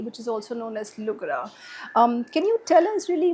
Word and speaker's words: Lugra: It's just that instead of d, we pronounce it as r in our dialect. We have our own dialect. So that's how it becomes Lugra.